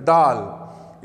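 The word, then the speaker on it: ڈال: छोटी तोए बनाई जाएगी डाल। इसका जो प्रोनाउंसिएशन है डी की आवाज़ है लेकिन डी की आवाज़ भारी है, डाल डगाली डाल डाल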